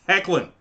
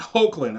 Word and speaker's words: Hoechlin: Cassadine Superman and yes that is how you say his last name it is heckling not hoechlin I don't know where people